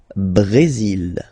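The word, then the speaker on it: Brésil: L Brazil. L Brazil. Okay. You will pronounce the final L here.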